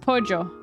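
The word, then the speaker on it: pollo: white loses The Rook Colombia is pronounced with the J sound so where like poo is pronounced pojo okay interesting okay we're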